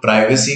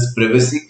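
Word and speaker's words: privacy: उसके अलावा इस चैप्टर में जब हम आगे बढ़ेंगे तो समझेंगे प्रिवेसी एक चीज है जिसको बोलने के लिए लोग प्राइवेसी कहते हैं, बट the correct pronunciation is प्रिवेसी। सो प्रिवेसी मतलब निजता हिंदी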